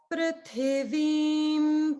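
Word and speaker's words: पृथिवीम्: So just notice in the prithivim, the swaras are a little bit different. So the pru is upper, then straight down to lower, and then middle.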